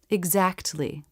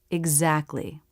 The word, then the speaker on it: exactly: tal constants together but most people pronounce it without the t exactly full pronunciation exactly common pronunciation exactly dropping the T between